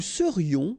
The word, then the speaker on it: serions: Nous serions, final S not pronounced.